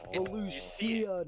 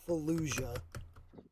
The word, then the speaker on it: Felucia: But it's Felucia, not Fallujah.